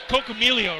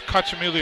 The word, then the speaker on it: Cacciamilio: It's Cocamilio, right? No, it's Cacciamilio.